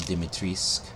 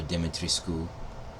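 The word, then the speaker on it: Dimitrescu: logo up there there's castle dimitrisk or dimitri school however you prefer to pronounce it i know uh there's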